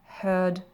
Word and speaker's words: hear: Le verbe suivant, hear, heard, heard, entendre. Attention à la prononciation du EA qui est différente. Au début, c'est hear et après, c'est le son heard, heard.